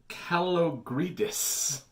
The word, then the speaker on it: Kalogridis: The KOTOR movie is moving forward, and now attached to the project is Leta Kalogridis. That's how I pronounce the name.